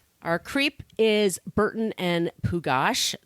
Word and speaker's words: Pugash: creep is burton and pugash that is how you say his name or puget or pukash i've heard it announced many ways i'm going to go with pugash bert was born april 20th 1927.